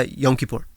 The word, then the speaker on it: Yom Kippur: Yeah, Yom Kippur.